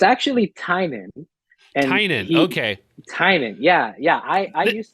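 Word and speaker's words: Tynion: used to call it tinian and then I heard an interview with him and he said Heinen and he said his name looks like it's spelling tiny onion so he gets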